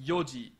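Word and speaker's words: 四時: with the time marker the hour marker it's pronounced yoji go yoji it is until 4:00 p.m.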